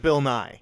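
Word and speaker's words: Bill Nighy: did I I I looked it up he pronounces it Bill NY I watched him do it yeah because I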